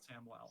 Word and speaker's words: Samuel: to spell yeah yeah it is spelt samuel it is pronounced samwell samwell okay i think